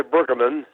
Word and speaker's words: Brueggemann: Well, I generally say Brueggemann with an accent on the first syllable, but I don't quibble about that.